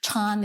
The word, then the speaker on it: Chan: mentioned Chan tradition is Chan is the Chinese Chinese pronunciation of the word zen that's more well-known here in America and also